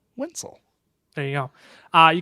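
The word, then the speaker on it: Wencl: on twitter pencil yeah it rhymes with pencil right but you don't you basically you spell pencil but you start it with a w and then take out the i and that's my last name wenzel there you go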